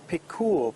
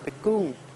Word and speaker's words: Pikul: Well, I found a place called now, foreigners are going to pronounce this Pikul, P-I-K-U-L, but the Thai people are going to pronounce it Pikung.